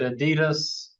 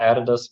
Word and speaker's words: Adidas: firms like Nike and I pronounce it Adidas but I it sounds like they're supposed to be Addidas what do yall how do y'all say it y'all say Adidas right it's not added us but anyway but there's